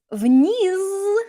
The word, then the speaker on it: вниз: Notice вниз has a Z on the end, but what do we learn? Do we pronounce this as an actual Z?